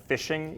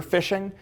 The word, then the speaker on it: phishing: are what are called phishing emails it's like you're officially except they spell it with a pH because hackers are cute it's like you're fishing for something those are phishing emails